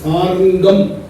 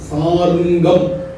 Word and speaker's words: சாருங்கம்: என்ற பெயரு சாரங்கபாணி சாரங்கம் அதனுடைய உண்மையான உச்சரிப்பு வடமொழி சா இரு இங்கு காயம் சாருங்கம் சாரங்கம் அப்படிங்கறது தமிழ் சாருங்கம் அப்படிங்கறதுதான் வடமொழில சான்ஸ்கிரிட்ல இருக்கிறது சாருங்கம் சாருங்க வாணி தான் சாரங்க வாணி அப்படின்னு சொல்றது நம்ம தமிழ் உச்சரிப்புக்காக மாத்தி சொல்றோம் அப்ப சாருங்கம் என்பது பெருமாள்